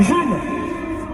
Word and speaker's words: June: C'est J et 1, jeûne. Ça, c'est la phonétique. Mais le vrai symbole, c'est le G. C'est une nouvelle lettre qui est inventée, qui se prononce jeûne.